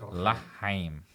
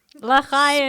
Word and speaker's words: L'chaim: L'chaim. L'chaim.